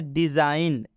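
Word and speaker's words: design: example की तरफ जैसे डिजाइन डिजाइन में जी के बाद एन आया है डि में जी के बाद एन आया है बात समझ में आ रहा है ना इसलिए इस जी का उच्चारण हम नहीं करेंगे डिजाइन डिजाइन का मतलब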